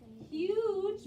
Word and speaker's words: huge: and we have huge do you guys notice something about huge yes what is that jace what does the g say yep huge which we had last